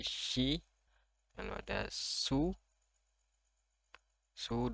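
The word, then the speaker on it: し: Lalu ada shi, ini dibacanya shi, bukan si tapi shi.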